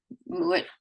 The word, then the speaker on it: Mowat: I almost said it with kind of my Manitoba accent. I kind of slip in and out of that. Mowat. Yeah, it's actually how it's said in Scotland, is Mowat.